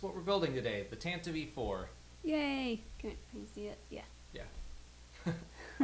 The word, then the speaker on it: Tantive IV: in and is mad that I said it Tantivy but that's that's how it's pronounced a and I also wish it weren't pronounced that way I always used to call it the Tampa poor but then we listened to an R I